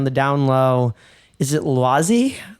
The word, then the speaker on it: Laoise: I hate having to write it phonetically in English because there's no vowel to like get the perfect ending on it, because it's more like Laoise. So it's nearly like IH AH ending, but amalgamated.